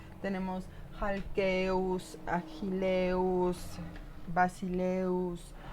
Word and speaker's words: basileus: Los temas en diptongo eu, que son los más numerosos, son todos masculinos y todos oxítonos, es decir, su acento va a estar en la última sílaba. Tenemos halkeus, agileus, basileus, y siempre van a estar acentuados en la última sílaba.